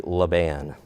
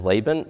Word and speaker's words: Laban: congregation in Alabama and the way that I learned to pronounce laan was actually lean so I'm going to do my best to pronounce it as Laban but I've already caught